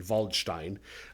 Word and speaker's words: Waldstein: uh a theologian named Michael valstein or waldstein but we'll go with a German pronunciation valstein um but most of